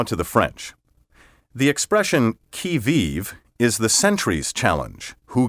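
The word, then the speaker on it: qui vive: but back now to the french the expression kiviv is the century's challenge who goes there in english we use the expression on the key vive to mean on the alert ready and watchful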